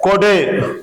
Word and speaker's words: கோடு: இப்ப பாரு எக்ஸாம்பிள் கொடு என்னது கொடு ஒரு சுழி கொம்பு போட்டுருக்கேன் அப்ப குறைந்த ஓசையில சொல்லணும் கொடு அதையே நான இரட்டை சுழி கொம்பு போடுறேன் அப்ப இத நெடிலா உச்சரிப்பு கொடுத்தா கோடு என்னன்னு சொல்லணும் கோடு அப்ப ஒரு சுழி கொம்ப எப்படி